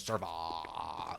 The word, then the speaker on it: serva: Pour into Rapix Indoor Serva. That's actually its true Latin pronunciation is Serva. You have to really enunciate that A.